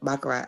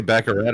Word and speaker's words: baccarat: I play craps and I play baccarat.